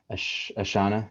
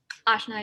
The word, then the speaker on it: Ashna: Ashana, is that how you say it? Ashna, yeah. Ashna, sorry.